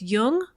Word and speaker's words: Jung: Just be sure to pronounce Jung with a hard J.